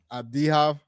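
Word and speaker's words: Avdija: Abdihav. Like an H, yeah.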